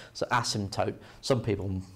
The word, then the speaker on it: asymptote: a strange spelling so we don't really pronounce the p okay it's got silent p so asymptote some people pronounce it asymptote okay but it sounds